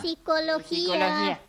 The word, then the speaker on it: psicología: Psicología. Les vamos a... No, psicología. ¿Ah? Psicología, la P no se pronuncia.